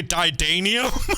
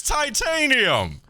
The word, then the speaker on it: titanium: titanium in this what what do americans say didanium no they do not they don't what they don't do that didanium it's titanium i get the water